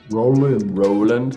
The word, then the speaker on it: Rowland: it's good so your last name is Roland Roland Roland pronouncing yeah I like that that's a cool